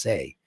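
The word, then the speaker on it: 四: Four is bad luck because the number four in Chinese is death because four is pronounced say which means death.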